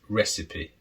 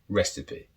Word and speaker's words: recipe: but the connect pronunciation it's not necessarily logical with the spelling but it's recipe recipe so here a recipe